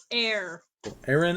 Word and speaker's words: Aeron: which one a.a rom it's literally aaron like it's like aaron but air aaron and lythra no but